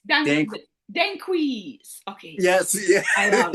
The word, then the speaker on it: Danquis: Did I pronounce this well? It's Danquis. Dan Dan. Danquis.